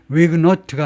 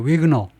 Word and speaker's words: Huguenot: 위그노는 마지막 발음을 안 하는 거 보니까 불어지요. 프랑스어입니다. 위그노트가 아니고 위그노.